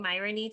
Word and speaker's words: Myronuk: say your last name i would say it's like ironic but with an m and then i would